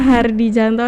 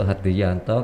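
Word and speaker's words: Hardijanto: Kenalkan, nama saya Hardi Janto atau Hardi Yanto karena istilah ejaan lama gitu ya.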